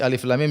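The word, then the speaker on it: الم: HAM Jangan dibaca seperti Alif Lam Mim Jangan dibaca alam tapi Alif Lam Mim Alif Lam Mim HAM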